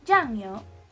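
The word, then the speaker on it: 酱油: So when we combine those 2 syllables together, it's gonna sound as 酱油, 酱油.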